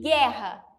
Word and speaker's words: guerra: som do HU e guerra guerra eu falo George Eu não pronuncio o som do uh se não ficaria guerra guerra e não é assim que se pronuncia é guerra então quando eu tenho o que u.e.